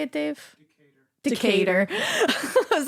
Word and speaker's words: Decatur: Decatur.